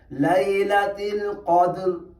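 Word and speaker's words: ليلة القدر: پہ فی لیلۃ القدر، یہ اس کا صحیح تلفظ ہے، لیلۃ القدر، قدر۔ اب دیکھیں یہاں پہ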